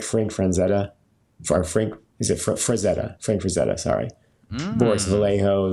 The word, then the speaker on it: Frazetta: I said Franzetta because I used to have this client that would always call him Frank Franzetti, and we would always be like, how are you getting it so wrong?